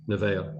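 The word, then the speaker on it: Nevaeh: Nivea.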